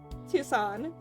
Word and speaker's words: Tucson: IC back in to tusin tus tus I can't say the word I can't say what Tucson thank you take me a second like it's a silent c I know how to